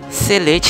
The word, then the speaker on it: sillage: Pertama, ada huruf S yang mewakili sillage. Itu pronunciation Prancisnya. Kalau kalian susah nyebutnya, pakai pronunciation Englishnya aja ya.